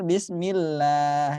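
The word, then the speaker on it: بسم الله: ada yang keliru Bismillahirrohmanirrohim yang benar bismillah ya setiap kasrah dibaca pasti tipis dia tarqiq jadi lah bekam Wow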